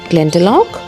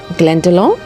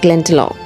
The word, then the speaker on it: Glendalough: Saint Kevin Glendalough is pronounced Glen-da-lok, though some may say Glen-da-low. Here I will pronounce as Glen-da-lok.